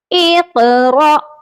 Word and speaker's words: اقرأ: قلقلہ نہ ہو۔ امہل، اقرأ، یہاں پر را کے ساتھ حمزہ ہے، الف نہیں ہے، اسی لیے یہاں پر جھٹکا دے کر پڑھا جائے گا۔ ایک بار اس کے